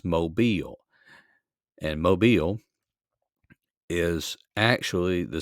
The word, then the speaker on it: Mobile: the southwestern portion, and this is down around Mobile. That's how you pronounce that name. It's not mobile, it's Mobile.